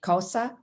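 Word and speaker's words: Xhosa: and cosa cultures so you heard me pronounce cosa with a click as i said the word so the x is said using the k sound along with a click and the side of your cheek and i learned this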